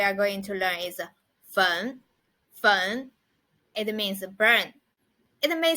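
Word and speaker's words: 焚: it so it means a burn and the pronunciation of it is fun fun so let's write the words together so the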